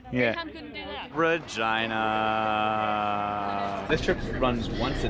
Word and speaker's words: Regina: This is getting us to Regina, which I know you always hate that it's pronounced like that.